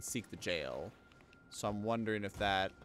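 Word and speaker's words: gaol: a okay it's not pronounced skull right it's pronounced jail i think someone in game pronounce the jails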